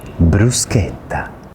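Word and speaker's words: bruschetta: In Italian, when the letter C is followed by an H, it makes a hard C sound. Bruseta. The U is also really annunciated. So, it's like an ooh sound.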